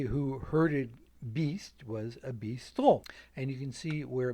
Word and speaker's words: bistrot: So, in the last 2 decades of the 19th century, you begin to see a word, bistrot, spelled usually with a T, bistrot in English pronunciation.